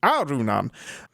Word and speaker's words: Arunan: So I think we're going to go with the Sri Lankan pronunciation, which is Arunan.